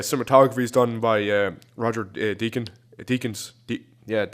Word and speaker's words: Deakins: The cinematography is done by Roger Deakins. That's how you pronounce it.